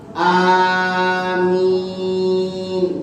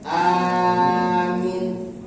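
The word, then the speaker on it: آمين: Boleh hamzahnya dibaca panjang, minnya dibaca panjang. Amin. Boleh. Satu, panjang semuanya. Yang kedua, hamzahnya panjang, minnya pendek. Amin. Boleh. Yang ketiga, hamzahnya pendek, mimnya panjang.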